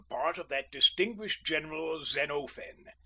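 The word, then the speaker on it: Xenophon: Usually I took the part of that distinguished general Zenofen, and please note the quantity of the O.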